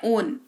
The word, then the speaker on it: own: OWN इसको पढ़ते हैं, उच्चारण होता है ओन, ठीक है, ऑन नहीं, ओन। होठ को ना थोड़ा सा ऐसे तोता होता है, तोता के जैसे मुंह बनाना है, ओन, है ना, ऐसे करना है, ऑन नहीं पढ़ना है।